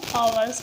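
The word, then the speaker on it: hours: इसको लिखते हैं हावर्स बट पढ़ते हैं आवर्स, क्योंकि इसमें एच साइलेंट रहता है।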